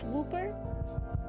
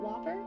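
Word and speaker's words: Wooper: No, it's it is whooper. It is pronounced Whooper, not Whopper.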